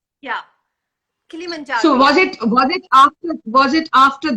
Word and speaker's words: Kilimanjaro: Or was it your after how do you pronounce that? Kilimanjaro, right? Yeah, Kilimanjaro.